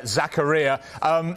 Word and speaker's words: Zakaria: Putting me right on the pronunciation there, Zakaria.